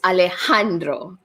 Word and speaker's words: Alejandro: first name is alejandro all right so it's alejandro i have to have it okay got it i mean pronounce alejandro okay got it all right and